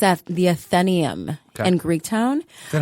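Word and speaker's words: Atheneum: we hit that it's at it's at the athenium in Greek toown is that how you pronounce it athenium yes I've been saying athum all these years you've had incorrect salab imp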